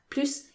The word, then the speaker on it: plus: more or the most remember if plus has a negative meaning is pronounced plu and for plus to be pronounced plus not only it needs